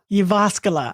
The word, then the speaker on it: Jyväskylä: How do you pronounce that? Jyväskylä.